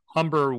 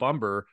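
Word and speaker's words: Humber: uh Philip umber yeah umber but don't pronounce the h Philip umber threw a perfect game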